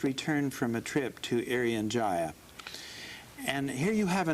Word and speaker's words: Irian Jaya: how to spell it i-r-i-a-n-j-a-y-a that's correct uh i'm not say aryan and i'm not saying area of it's irian jaya and it is where